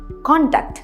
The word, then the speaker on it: conduct: तो इसे कहते हैं कोड ऑफ कॉन्डक्ट। तो वो वाला कॉन्डक्ट का प्रोनाउंसिएशन है ये कॉन्डक्ट। यहाँ पे हम फर्स्ट सिलेबल पे स्ट्रेस कर रहे हैं कॉन्डक्ट।